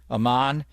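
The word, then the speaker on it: Amen: and by the way everybody mispronounces his first name it's like David Bowie's wife Aman it's Aman ra not amanra it's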